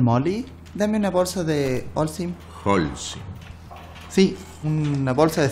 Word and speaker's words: Holcim: Holcim. Holcim. Holcim, sin palito. ¿No? Pero acentuado. Y se pronuncia Holcim, Holcim, con acento en la O.